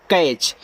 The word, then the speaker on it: catch: देखो TCH को हम केवल चा पढ़ेंगे, और सी से आपका का, ए का उच्चारण ए की मात्रा, TCH आपका यहाँ पे हो जाएगा चा, कैच। ये आपका साइलेंट आता है टी।